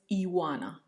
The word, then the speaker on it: Ioana: I did mention my name, which currently is, and also my given name at birth was Iwana, and that is spelled as Ioana. So a lot of vowels and one consonant.